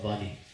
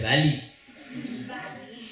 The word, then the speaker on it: Vali: And the arrow went and pierced the chest of Vali. Vali just, I was about to say Valley. Valley. That's like the American pronunciation, Valley.